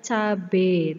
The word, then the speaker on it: cabai: bisa gitu juga ada terus cabai tulisannya cabai meskipun kita sering Mengapa mengucapkannya cabe tapi tulisannya cabai Oke selain 15 kata baku